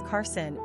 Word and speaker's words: Karsyn: But when you see it on paper as Karsyn, it just looks all girly girl. The irony is, of course, that the two names are pronounced exactly the same way.